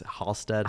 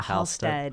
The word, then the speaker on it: Halstead: show and I think I just mispronounced your name again right it's Halsted Halstead Hallstead yes got it but we're very good